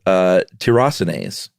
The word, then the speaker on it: tyrosinase: And the secret to it all is a little protein called tyrosinase. Right. How would you pronounce it? Just exactly like that, tyrosinase.